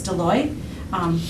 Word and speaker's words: Deloy: grounds custodian, Abby Deloy, very different pronunciation versus how it's spelled, but it's Deloy.